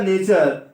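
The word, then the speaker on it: nature: तो ये हो गया नेचर नेचर हुआ ना की ना तू रे हुआ ठीक है ना कुछ बच्चे जिनको एक प्रनंसीएशन का उच्चारण करने का रूल नहीं पता होता है वो इसको क्या पढ़ेंगे ना तू पढ़ेंगे फ्यूचर को फीचर पड़ेंगे तो आपको ऐसी गलती नहीं करनी है ठीक है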